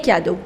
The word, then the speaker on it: cadeaux: The pronunciation doesn't change. Le cadeau, les cadeaux, which means the gifts.